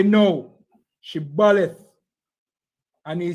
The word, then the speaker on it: Shibboleth: Say the word Shibboleth. No, because they know that the Ephraimites them can't pronounce the word right. They say Sibboleth.